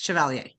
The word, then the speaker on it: Chaler: said stuff is awesome is it chaler is that how you pronounced your last name yes chaler I love it I used